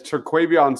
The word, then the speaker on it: Terquavion: Can you first nail the pronunciation of his first name, unlike I just butchered it? And then two, out of respect for him, and then two, how did you feel he fared? Because he played pretty well. It's Terquavion Smith, and his shooting percentages were terrible.